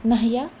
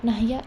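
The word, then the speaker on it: نحيا: Ha is to be focused. You are not supposed to pronounce nahya. It is not nahya, it is nahya.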